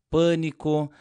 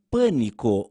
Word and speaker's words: pânico: Em pânico, o A é mais fechado e em pálido, o A é mais aberto.